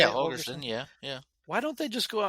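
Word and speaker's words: Holgorsen: freaking game, why can't Matt Rule and Dana Holgerson, is that how you say it? Holgerson, yeah.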